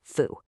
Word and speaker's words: Fou: And by the way, that's Fo, pronounced Foo.